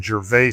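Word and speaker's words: Gervais: And so when you look for Jer Street, you have to know how to spell it. It's G E R V A I S. It's French.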